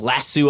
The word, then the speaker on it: lasso: Lasso is a verb and lasso is a noun.